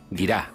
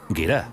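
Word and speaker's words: gira: tradición histórica en lituania se llama yira guira guira Sí guira así ya lo subtitular porque mi pronunciación es horrorosa aquí veo caballa la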